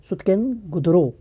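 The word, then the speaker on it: Sutkagen Dor: सुतकनगेनदोरो या इसका सही प्रोनाउंसिएशन सुतकेनगुदरो, ये वेस्ट साइड की आज के पाकिस्तान मकरान वाले रीजन में ये इंडस वैली साइट्स पाई गई।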